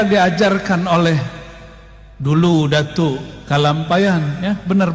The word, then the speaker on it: Kalampayan: Inilah yang diajarkan oleh dulu Datuk Kalampayan, ya, benar bacanya gitu, Syekh Maulana Muhammad Arsyad Al-Banjari.